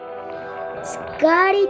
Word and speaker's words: Skadi: SKADI the ice cream, that's how you say it.